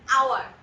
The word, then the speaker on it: hour: H আছে বলে কিন্তু আমরা এটাকে হাওয়ার বলছি না, আমরা এটাকে কি বলছি, আওয়ার।